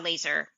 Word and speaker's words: Lazor: And um my my name is it's it's it would be Laser. Like it's not spelled like a laser gun.